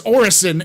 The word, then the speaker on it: Orison: people like well no well cig says Orizon I'm like that's how I know they don't play their game because it says orison everywhere in the goddamn game they're always playing that